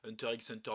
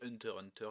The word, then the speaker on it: Hunter x Hunter: cas de mon côté je suis de la team qui ne dit pas Hunter x Hunter mais Hunter Hunter donc je fais la même chose pour murder murder je ne prononce pas le X donc je sais que